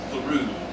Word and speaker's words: Thoreau: There's a town there called Thoreau, pronounced Thoreau.